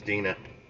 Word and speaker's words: Dina: I said Dana, it's Dina. Be right back.